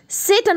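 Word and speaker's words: Tsetan: सेटन इनका नाम है, टी साइलेंट है, सेटन आप बोलेंगे।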